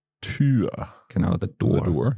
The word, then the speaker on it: Tür: And again, you have words that it's pronounced a little bit longer. For example, Tür. Tür.